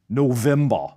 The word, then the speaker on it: November: or even the month November. The V in these borrowed words is pronounced as a voiced VV just like German W.